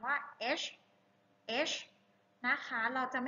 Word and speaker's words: H: ตัว H นะ คะ ลง ท้าย ด้วย ชา นะ ลูก สะเอว อ่าน ช้า ๆ ว่า H H H นะ คะ เรา จะ ไม่ ออก เสียง ว่า เฮ็ด นะ ลูก เฮ็ด ผิด